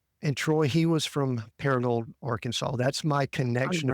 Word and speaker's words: Paragould: you're from a little town in Arkansas called Paragould. Did I pronounce that right? Paragould?